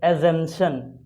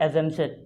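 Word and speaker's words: assumption: एजम्पशन, ये word जो है इसमें इसका पी साइलेंट होता है। इसका उच्चारण हम ऐसे करेंगे एजम्पशन, P silent, एजम्पशन, एजम्पशन।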